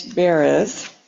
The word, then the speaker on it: Baraz: Our speaker today is James Baraz, rhymes with Paris, he told me.